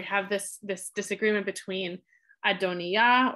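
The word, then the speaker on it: Adonijah: this this disagreement between adonia or as the text will spell it a dhoni jaw but adoniyah and solomon so adonia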